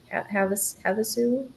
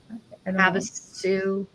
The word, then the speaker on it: Havasu: I can never pronounce it. Havasu. Havasu.